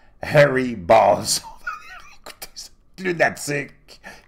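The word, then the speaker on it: Harry Bōlz: suédois qui fait que quand tu le prononces, ça sonne Harry comme cheveux ou poils, Balls comme couille. Ça s'écrit Harry, B-O avec une espèce d'apostrophe au-dessus, L-Z, mais ça se prononce Harry Balls.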